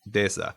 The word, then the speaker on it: Desa: So it's going to be like Desa. I pronounced that correctly, correct? It's pretty close. It's Desa. Desa. But you're in the ballpark.